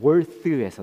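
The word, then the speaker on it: worth: 근데은 어디서 나온 말이냐면 월트에서 나온 말이거든요. 월th는 뭐냐 하면 어 뻔데기 발음입니다 여러분.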